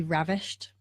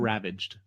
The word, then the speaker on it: ravished: And, or to be ravished, to just. Not ravaged. Right. Ravished. Yes. Ravished. Thank you. I said that right. Yeah, you got it right.